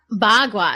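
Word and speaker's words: Bagua: showed that card up well how do you pronounce it again ba kua ba gua yeah so ba gua actually the word ba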